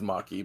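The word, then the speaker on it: Makee: what's what's her name how do you say it mckee or mackie or maki my thing it's maki but i'm gonna double check it's spelled m-a-k-e-e is it bad that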